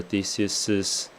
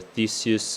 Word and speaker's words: Theseus: Wait, perchance till after Theseus' wedding day. Okay. I think we might be a little bit creative with Theseus as in 2 syllables versus Theseus as in 3 syllables.